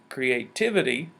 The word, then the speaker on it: creativity: Our third word, creativity, the T sound, or syllable, is where the stress is located. Let's try it. Again, cre will represent our medium sound. Creativity.